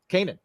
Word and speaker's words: Kanan: Kanan.